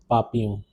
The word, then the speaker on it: papillon: Butterfly is le papillon. Even though there are double L, the pronunciation is papillon.